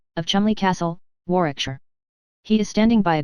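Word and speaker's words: Warwickshire: sellers Vikcount Berkeley of Cole Mandelly Castle Warikshshire pronounced Kubrith Lanover Marshbanks sellers Vikcount Barkley of Chumly Castle Warikshire.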